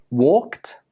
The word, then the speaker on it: walked: Again, even though these words are spelled with an ed, they are pronounced with a t sound.